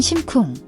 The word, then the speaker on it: 심쿵: The kung is a guttural K sound, similar to G but without voice. Make sure it's a single, sharp sound, not drawn out.